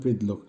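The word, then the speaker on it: предлог: কা, ই, সে এগুলি হচ্ছে রাসায়ন ভাষায় প্রিপজিশন অব্যয় বা রাসায়ন ভাষায় যেটাকে বলে প্রিদলোক উচ্চারণ হবে প্রিদলোক।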